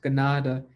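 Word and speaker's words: Kanata: word canada it's actually a mispronounced mohawk word ganada which means village so when people say i am from canada they're mispronouncing a word from our own people which is pronounced gennada and that means a village so everybody that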